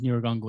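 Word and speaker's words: Nyiragongo: i think it's best we start with mount neurogongo itself it's spelled n-y-i-r-a-g-o-n-g-o standing at 3740 meters it's a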